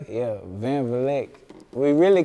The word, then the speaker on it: Vleck: Am I pronouncing this right? Yeah, Vleck.